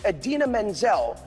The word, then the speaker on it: Idina Menzel: food is dancing the iconic and brilliant idina menzel pronounced exactly as it is spelled is our elsa attendant